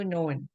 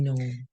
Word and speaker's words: known: know 알다, know, knew, known. No new known. know, knew, known. No new known. 알다 K가 묵음입니다. 여기서 발음이 안 돼요.